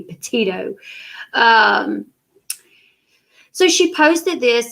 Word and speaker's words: Petito: like written articles like say her name correctly she called her gabby patino like several times before she called her gabby petito so she posted this